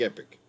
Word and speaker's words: Epoch: an epoch epoch i i was saying epic epoch yeah more like epic it's a weird way